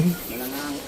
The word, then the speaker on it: Malangaan: Ayan medyo nakita niyo na yung intro ng papuntang Malanggaan sir yung pronunciation. Malanggaan. Malangaan. Ay malangaan. Malangaan. Ayan guys.